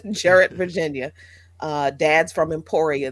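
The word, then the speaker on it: Jarratt: uh uh Jarrett Virginia Jarrett we we never we do not pronounce it properly Jared Virginia uh dad's from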